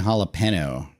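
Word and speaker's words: jalapeño: I heard people pronounce the J and jalapeno. No, they don't.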